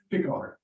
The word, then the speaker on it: Picard: Yeah, how do you pronounce it? Picard. Okay, Yes, sir. Picard, I got it right the first time.